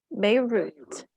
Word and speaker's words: Beirut: Beirut. Okay, yes. That is not only are they pronouncing the T, but that is a hard T.